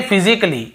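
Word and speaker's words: physically: और देखिए फिजिकली, हम क्या पढ़ते हैं, फिजिकली, ये देखिए फिजिकली, तो यहां पर भी ए का उच्चारण नहीं हो रहा है।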